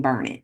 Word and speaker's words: Burnet: And if you've ever heard of a town called Burnet, it's probably someone mispronouncing Burnet. Burnet, Durnit. That's how they rhyme. So that's the correct way to say it.